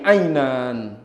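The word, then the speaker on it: عين: Fantamqul ain ainan. Dia ucapkan ain ain bukan nga.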